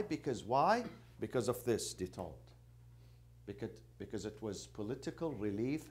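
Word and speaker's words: détente: Do you know the meaning of detente? Huh? It's a French word. Yes, it's a French. It's French. How do they pronounce it?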